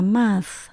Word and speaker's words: math: Ở trong câu này chúng ta lưu ý từ math là môn toán, tận cùng có chữ T và H. Mình đọc là math.